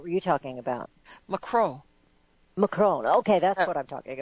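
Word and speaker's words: Macron: you listen to him they pronounce his name with the N and even you know everybody else tase McCrone but the I usually when you hear real frenchie person say they don't pronounce the N a cruel oh so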